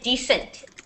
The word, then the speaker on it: descent: is descent okay okay what you guys keep saying is descent okay decent doesn't have an s in it descent has an s in it okay yeah descent and descent are two different words so decent it means